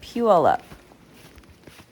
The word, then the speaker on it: Puyallup: It's North Puyallup.